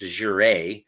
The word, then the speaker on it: de jure: that's Idaho uh d-e-j-u-r-e it's pronounced Azure it's French dot org so I've